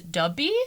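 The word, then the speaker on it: 더비: In Korean, it's pronounced as dubby.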